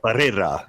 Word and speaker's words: Pereira: Did you just go Spanish accent for one word on us there? I love that. He did. Really good. You got to. Said, we got Pereira. It's how you pronounce his name.